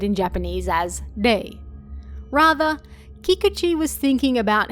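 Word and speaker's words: 霊: But ghost and 0 both being pronounced as day was an extra bonus.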